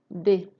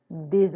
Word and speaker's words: des: If the following word, which is the noun, begins with a vowel or with a mute H, then it will be pronounced, but it wouldn't be pronounced as an S sound. It's going to be pronounced as a Z sound.